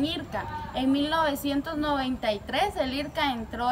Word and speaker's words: IRCA: Las siglas de este se pronuncian IRCA.